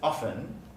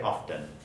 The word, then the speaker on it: often: but the word often so in my dialect i don't pronounce the t it's often often but there are speakers who say often but it's triggered by consonant clusters so often but both are correct so if you're trying